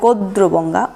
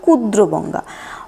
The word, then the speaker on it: গাদ্রবঙ্গা: অনেকে বলে গাত্রগঙ্গা, অনেকে বলে গোদ্রগঙ্গা, অনেকে বলে গুদ্রগঙ্গা, অনেকে বলে কুদ্রগঙ্গা। অর্থাৎ ওকার, অকার, গ আর ক এর মধ্যে ভেরিয়েশন এটা পাওয়া যায়।